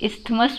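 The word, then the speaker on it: isthmus: कई लोग इसको प्रोनाउंसिएट इस्थमस भी कहते हैं, लेकिन हम लोग इसको इस्मस पढ़ते हैं।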